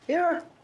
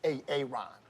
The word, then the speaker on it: Aaron: Aaron. Why didn't you say it the first time I said Aon? Because it's PRONOUNCED AARON.